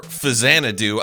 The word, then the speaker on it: Faxanadu: Faxanadu, or "Fuzzanadu", however you prefer to pronounce it, is a single player action adventure platformer brought to us by the fine folks at Hudson Soft.